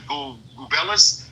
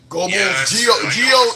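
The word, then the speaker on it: Goebbels: Minister Joseph Gubellis. Gollis. How you pronounce that last name? Gerbles, buddy. Okay. So, so okay. Gerbles, that's how you pronounce his name? Gobles.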